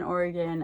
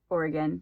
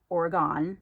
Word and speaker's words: Oregon: We have all over Oregon, from Portland to Bend to the beach to Eastern Oregon. I mean, all over. And yes, it is pronounced Oregon. It's not Oregon.